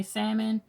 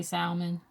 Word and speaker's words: salmon: Sage uh some say salmon I say salmon yes I pronounce the L hey it is what